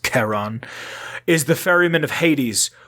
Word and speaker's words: Charon: or charon spelled k-h-a-r-o-n i'm assuming it would be pronounced keron is the ferryman of